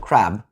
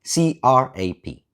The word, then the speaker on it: crab: Some of them wrote crab, spelled with a P. C-R-A-P. They wrote down exactly what they say because it's very hard for Vietnamese people to pronounce B at the end.